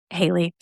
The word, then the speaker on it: Hali: If you saw the title, her name is spelled Hali, pronounced Hali.